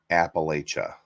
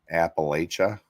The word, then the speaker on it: Appalachia: Australia that's kind of what Australia's like Anyway Appalachia right did I say it right Josh Appalachia not Appalachia I mean it's kind of where we're at